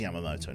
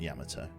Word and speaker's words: Yamamoto: Also, you're missing a syllable in Yamamoto. Oh, Yamamoto, am I? Yeah, it is Yamamoto, not Yamato. So Admiral Yamamoto, even. Yeah, it's not Yamato, is it? It's Yamamoto.